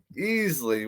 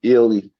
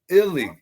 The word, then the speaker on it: Ealy: on my next guest we're gonna have Ken Easley what's up my friend how are you Ken